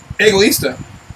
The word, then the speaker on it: egoísta: Egoísta.